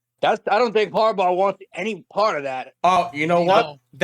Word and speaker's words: Harbaugh: since the Giants have uh been linked to Harborg. I can't I'm sorry I can't pronounce his name right. Sorry. Harbaugh.